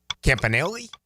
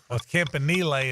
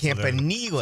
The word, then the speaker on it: Campanile: time they'd say Anthony Campanelli is now here, but he'd just take questions. Wouldn't mention his name. Well, Campanile is what he's calling himself. Campanile, like Cam Neely.